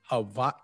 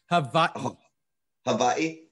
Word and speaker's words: Hawaii: I've been here long enough that I pronounce it correctly at this point. Hawaii. Say it again. Hawaii.